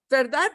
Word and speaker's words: verdad: talk right all right so verdat when it's written seems to be a cbc cdc but is the final consonant actually pronounced well in everyday speech it usually gets dropped somehow all right so there it shows the final d getting dropped now what happens if